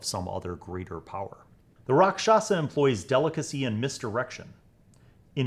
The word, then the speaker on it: Rakshasa: I was like oh it's a rashaka and then I played D and D for like six more years and when I was like 11 or 12 I realized that I was saying it wrong the whole time rock shasa the rock shasa is